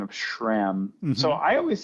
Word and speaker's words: SRAM: about your pronunciation of Shram so I always say I always say sham but you say Shram you kind of add like this sh sound like sh like Shram